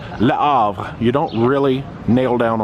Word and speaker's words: Le Havre: It's Le Havre. You don't really nail down on that H. I've been saying Le Havre the whole time. Le Havre.